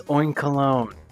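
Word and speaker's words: Oinkologne: or something like that it's oink alone because this whole thing is about having very nice scents I'm a dumbass anyways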